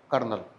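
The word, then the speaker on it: colonel: कनल इसे बोलते हैं कर्नल ठीक है क्या स्पेलिंग होती है सीओ एल ओ एन ए कर्नल कर्नल साहब होते आर्मी में बोलते कर्नल सीओ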